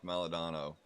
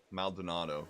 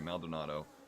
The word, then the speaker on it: Maldonado: Paligrini is a second off Maldadono. Maldonado, sorry. Maldonado. pronunciation right now.